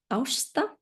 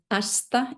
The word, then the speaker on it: Ásta: My name is pronounced in Icelandic Ásta, but Ásta is it's fine with Ásta.